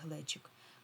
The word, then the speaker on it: глечик: А, до речі, відзначте, будь ласка, наголос у слові глечик. Наголос падає та на е. Глечик ми кажемо.